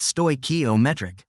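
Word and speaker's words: stoichiometric: The scientist calls this chemically correct combination a stokometric mixture pronounced stokometric.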